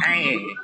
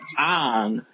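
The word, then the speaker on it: Aang: Okay, it's spelled A-A-N-G, and to him, he feels he should say Ang because of the two A's. But there are people whose name is spelled Aaron with two A's. Have you ever heard anybody call Aaron? I haven't. It's Aaron. I have. It's a Pokemon. Aaron. And his name only has one A.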